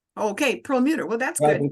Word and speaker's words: Prelmuter: And now I would like to welcome Rabbi Prelmuter.